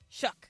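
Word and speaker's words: Shough: Shuck. We decided his name was Shuck earlier today, but it's spelled uh differently than you would think of Shuck Korn. Correct. It's not spelled like that.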